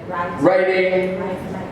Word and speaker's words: writing: the 3 R's: reading, writing, arithmetic. So, as you can see, only one of these is actually R, because the W is silent, and then we say arithmetic.